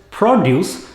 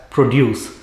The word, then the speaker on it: produce: being used for example it is produce when you are referring to fruits and vegetables in a market but when you are making something it is pronounced as produce the word is same